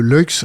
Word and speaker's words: Luyckx: Lux, ça s'écrit.